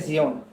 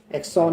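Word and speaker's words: Xeon: जैसे ठीक है, इसका प्रोसेसर भी अलग आता है, जियोन प्रोसेसर बोलते हैं इसे, प्रोनाउंस करते हैं जियोन, एक्सॉन नहीं बोलेंगे, जियोन प्रोसेसर इसमें आपके लगते हैं।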